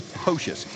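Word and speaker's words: Poxes: A lot of people butcher this name because it's spelled P-O-X-E-S. That's Pocius, and he is a very solid athlete.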